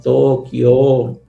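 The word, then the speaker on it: Tōkyō: y tera, es decir, hace que en la pronunciación se se duplique el sonido de la o, ¿no? Entonces, sería algo así como Tokyo, ¿no?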